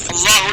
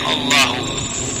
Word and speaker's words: Allahu: Dari sisi bahasa Arab, Allahu di sini bisa dibaca Allahu, bisa dibaca Allah, tapi jumhur ulama membacanya Allahu.